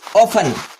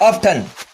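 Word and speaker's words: often: Second one इज ऑफन, नॉट ऑफ्टन। ऑफन का मतलब होता है बार बार, मेनी टाइम्स।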